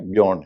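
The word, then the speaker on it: Björn: बग जो है उनके नाम की स्पेलिंग बी जे ओ आरन हम लोग जब अखबार में थे तब देखते बजोन बग होता है लेकिन उसका उचा बजन नहीं है बन है वो जर्मनी स्वीडन के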